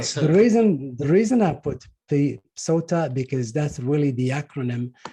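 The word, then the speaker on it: Psota: So just remember her name, like her last name is Sota, P-S-O-T-A, P is silent.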